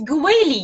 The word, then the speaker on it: Goawily: i'm talking with yafa yafa how do you pronounce your last name it's gweli yes so i was saying it in just